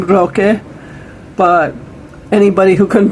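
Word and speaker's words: Roque: his Mexican friends called him by his name Rock but anybody who couldn't pronounce it uh they actually just call him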